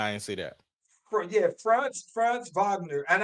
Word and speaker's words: Wagner: Franz Wagner, and I think he's German, so I always got to pronounce some W's as V's. Franz Wagner, he got the same contract, and it's the rookie contract.